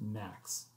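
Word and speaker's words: NAAQS: was the development of national ambient air quality standards pronounced max as an abbreviation these are a set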